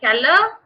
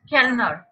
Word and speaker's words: Kellner: You have seen their Keller, the Kellerin. Their Keller, the Kellerin. N is silent, ma'am. Sorry. N is it silent in Keller? Kellner. No, it's Kellner, Kellnerin.